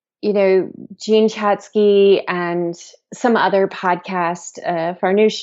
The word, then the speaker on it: Jean Chatzky: I want to talk about, because I heard you say Jean Chatzky, and I know I want to talk about your am I saying it right? Jean Chatzky? Yeah.